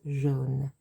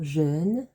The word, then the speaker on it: jaune: Let's have a look at the way that we pronounce jaune. Jaune. Je for the J, and the A and the U makes an O sound. Jaune. Not jeune, not Jean, but jaune.